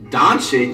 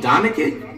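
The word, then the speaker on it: Dončić: Now it's hard to pinpoint the exact time in which Flight lost his ability to read and pronounce names. Doncic? You mean Doncic?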